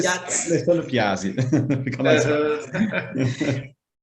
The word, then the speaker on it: Piazzi: E eu pronunciei certo, Piatti ou é Piazzi? Você fala Piazzi ou Piazzi, mas Piazzi.